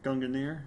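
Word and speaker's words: Gungnir: no longer signifying the end so the actual pronunciation of Gunner gungunir however that was this young mirror did not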